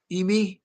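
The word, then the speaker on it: Eimy: Now we have, is it pronounced Amy or Emily? E I M Y. Amy. It's Amy.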